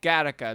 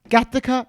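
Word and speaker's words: Gothika: made the movie more than just entertainment like gareka the previous film written uh it's pronounced gothica charlie i feel like derek always says something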